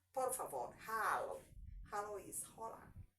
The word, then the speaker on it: hola: Then when I'm talking of words like please, por favor, please, por favor, hello, hello is hola, hola. So H is silent.